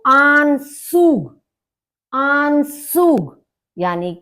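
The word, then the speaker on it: Anzug: मतलब कोट आन सूग आन सूग ए का आ हो गया और जड को सा की तरह से बोला जाता है यू का उ हो गया तो आन सूग आन सूग यानी कि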